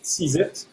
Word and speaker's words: CZITT: The NGO is called the Carbon Zero Institute of Trinidad and Tobago, CZITT, which is pronounced as seize as in grab it, the opportunity.